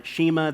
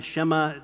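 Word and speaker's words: Shema: Deuteronomy 65, that's the sheima, the shimma, depending on whether you know how to pronounce it or not, which I don't.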